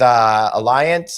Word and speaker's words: Allianz: Gareth is with Alliance or Allianz. That's Alliance. I talked to Alberto Santana about this. They get both pronunciations of it, so I'm not exactly sure what's going on.